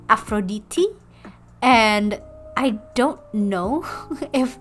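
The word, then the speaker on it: Αφροδίτη: And Aphrodite, which is actually the most interesting of the pronunciations, is actually pronounced in Greek as Aphroditi.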